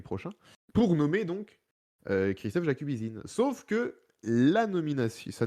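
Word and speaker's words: Jakubyszyn: jacubisin vous savez quiine jacubisine pardon on on va parler de Christophe jacubizine jeen reprends puisque avec la bonne la bonne prononciation il a été nommé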